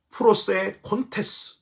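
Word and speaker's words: προσέχοντες: 오니라 주의하는 것 여기 주의하는 것이 옳으니라 헬라어로 프로세 콘테스 이렇게 발음을 하는데요이 프로세 테스가 뭐냐면 마음을 거기에 두는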